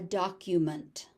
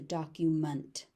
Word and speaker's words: document: So as a noun, it's a document. It's a document. As a verb, it is to document. So it's munt as a noun, meant as a verb.